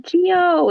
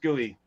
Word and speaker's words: Geo: Trying to find Geoduck It's not Geo. It's Gooey. here somewhere. Yeah, it's Oh my weird. It's God. spelled Geo, but it's pronounced gooey.